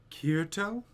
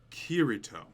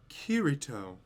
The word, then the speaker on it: Kirito: are difficult to pronounce is it kirito her intonation was slightly off so i repeated myself kirito kirito that's perfect that must have been